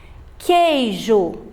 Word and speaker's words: queijo: Queijo, o U também não está sendo pronunciado, está acompanhado pela vogal E.